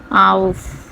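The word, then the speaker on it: auf: ইউংলাউড বি ই আ উবা কি এটা হচ্ছে ঝুলানো কোন কিছু উপরে ঝুলিয়ে রাখাকে ওটাকে উবা বলে ঝুলানো তারপরে হচ্ছে আউফ এ ইউ এফ আউফ অর্থ উপরে আউফ অর্থ কি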